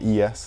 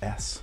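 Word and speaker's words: éS: I'm just like, if you say tomato or tomato, what's the difference? Apparently, my whole life has been a lie, my whole skate fan life. This brand's not called ES, it's called S, which I should have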